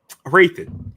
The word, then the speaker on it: Hrathen: Ro uh Rathan. Raithan. Um I don't know why it's like it's the H I think is always like throwing me off. Yeah. It's like raan. It's just the H is silent.